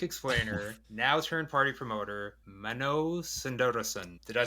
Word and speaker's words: Mano Sundaresan: unfortunately, plug music explainer, now turned party promoter, Mano Sundaresan. Did I say that right? I'll guide you through it. It's Mano Sundaresan.